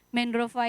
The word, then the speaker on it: Mendrofa: Mendrova itu sebenarnya pelafalannya Mendrova. Tapi di Nias itu ada satu vokal yang tidak ada di bahasa Indonesia, yaitu e. Jadi kami kalau menulis emas, andai kata itu bahasa Nias, itu nulisnya o dan ada aksen di kepalanya.